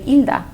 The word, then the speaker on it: Hilda: Normally my name in Spanish, the H is silent. So you just say Hilda.